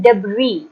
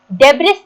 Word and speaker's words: debris: इसका मतलब होता है, इसको हम प्रोनाउंस करते हैं डेब्री। डेब्रिस नहीं बोलना इसको, ठीक है। इसको हम पढ़ेंगे डेब्री। एस साइलेंट है इसमें।